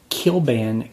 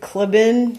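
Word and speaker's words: Kliban: Is that how you say it? Kilban? It's like Clibin. Clibin. I think it's Kilban. Anyway, I don't know. It's just like this 80s cartoon. Yeah, it's Kilban. Kilban.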